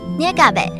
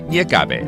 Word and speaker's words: 月鴿仔: 捏嘎贝。捏嘎贝 OK?